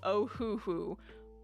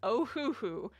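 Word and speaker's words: Ohuhu: months now is called ohoooo oh h u hu three syllables ohoooo it's kind of a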